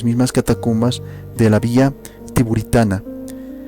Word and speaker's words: Tiburtina: catacumbas de la Vía Tiburitana, o como tú quieras pronunciarlo, también puedes decirlo Tiburtina.